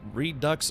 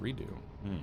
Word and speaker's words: redux: It's it's redux according to Miriam Webster.